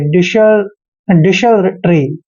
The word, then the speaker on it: desultory: मात्रा पढ़ते हैं, और SU का उच्चारण यहाँ पर से करेंगे, क्योंकि जब भी एस के बाद यू आता है तो यू का उच्चारण ए होता है, इसलिए हमने SU को श पढ़ा है, और एल को हमने ले पढ़ना है, और TO का उच्चारण टे करेंगे, आर को रे पढ़ते हैं, वाई को ई की मात्रा पढ़ते हैं, ऐसे डिशल ट्री, ठीक है ना, डिशल ट्री।